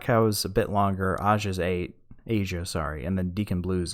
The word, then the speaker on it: Aja: Which, fun fact about this track, apparently it's called Asia, but it's spelled AJA, because I forget whether